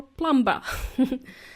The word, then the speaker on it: plumber: in the world plumber even though you don't hear it there is a B in there but every time I speak to my plumber he would say plumber plumbing or plumber so the correct pronunciation